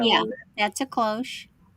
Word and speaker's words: cloche: This is a She probably cloche. warmed everything, weddings, That's like a church. We're the going to call this one 40s. cloche because I think that's what the style Yeah, of it. that's a cloche.